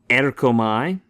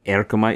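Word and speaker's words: ἔρχομαι: Erkomai means I come or go. Right? Erkomai.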